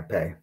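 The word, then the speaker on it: פ: So this letter here, which I believe, is it pay? Is that how it's pronounced? Yeah, pay. Okay.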